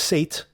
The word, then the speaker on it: Seth: the Yiddish Seth means it's pronounced Sate as in satiating or satisfying but the Egyptian god